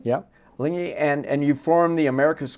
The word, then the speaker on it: Alinghi: You've gotten together with Alinghi, I pronounced that right? Yeah. Alinghi, and you formed the America's Cup team with them.